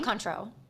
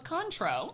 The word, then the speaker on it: Cointreau: I say Contro. I think the I is silent. Oh, so it's Contro.